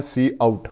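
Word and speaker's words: cout: आपको पहले बताया की ये सी ओ यू टी लिखा हुआ है इसको हम प्रोनाउंसड करते हैं सी आउट और ये क्या है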